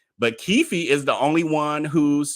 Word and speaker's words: Keffe D: only the guy uh kiefi as y'all telling me it's pronounced and I just heard them on the newscast but keefy is the only one